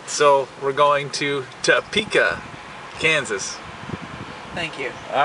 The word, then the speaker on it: Topeka: not even going there with you what's the pronunciation to okay not topa all right so we're going to TOA Kansas thank you all right and then we